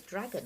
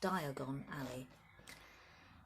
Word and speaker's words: Diagon Alley: how you pronounce it it's a dragon at first but it's not it's Diagon Alley Harry woke early the